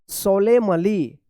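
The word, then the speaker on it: solemnly: पढ़िएगा एन जो है ना यहां पे भी साइलेंट रहेगा एस ओ एल ई एम एन एल वाई सोलेमली सोलेमली सोलेमली पढ़ेंगे क्या पढ़ेंगे यहां पे भी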